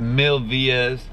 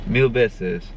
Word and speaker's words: Mil Veces: I hope I'm saying that right, y'all. I looked it up in my Spanish dictionary so I could actually know how to say it. Mil Vies. Mil Vies. Mil Veces. Mil Veces. I was saying it wrong.